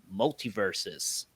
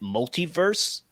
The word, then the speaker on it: MultiVersus: So I will go up first because I've been playing MultiVersus. Oh, I actually got it right. I've been pronouncing it multiverse, and then I forget about the us. So I'm like, multiverse us.